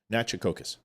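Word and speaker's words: Natchitoches: It's 3 syllables. It's Native American, so 3 syllables. Nachitokis.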